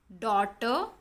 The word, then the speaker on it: daughter: Neighbor, daughter, fight, straight. In these words, GH is silent.